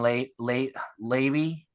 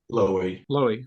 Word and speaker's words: Loewy: Raymond Levy. How do you say his last name? Raymond Levy. Loewy.